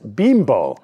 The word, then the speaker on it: Bimbo: correct their bakery sponsor bimbo actually pronounced bimbo however it did cause